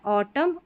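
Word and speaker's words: autumn: तो यहां पर एन हमारा साइलेंट रहता है। ऑटम और कॉलम।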